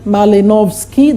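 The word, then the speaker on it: Malinowski: diffusion ism functionalism there is that man there malinovski that's how you pronounce structural functionalism of braun structuralism there is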